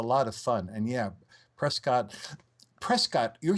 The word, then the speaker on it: Prescott: part of Arizona say Prescott. So you can always tell the outsiders like you and me who say Prescott, and the people who live there say Prescott. It almost rhymes with biscuit.